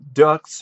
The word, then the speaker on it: Deux: a film or ducks or is it like part do I don't really know how I think it's part do because it's like the x is is is silent so I think it's a French word which is also known